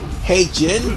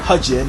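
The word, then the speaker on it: He Jin: And also get towards Heijin, because, or Hejin if you want to be more pronunciation-like.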